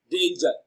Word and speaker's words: danger: gear girl and ignore but tangerine and danger have the job tangerine and danger have the same consonant sound ju so the answer to this question is option b danger right moving on question 19.